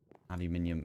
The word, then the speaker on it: aluminium: on the channel but aluminium is the way we say it here anyway I'm going to